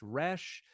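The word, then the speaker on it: ריש: and then we've got rash which uh you can Trill it in the back of your throat you can uh do a more of a frenches uh or you can pronounce it as we do in um in contemporary English rash or I've even heard folks uh bounce the tip of the tongue uh whatever you like I'm usually going to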